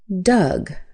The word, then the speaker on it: Doug: The o u is an u sound. Uh as in fun. In fact, did you know that d o u g sounds exactly like d u g, which is the past tense of dig, dug, dug.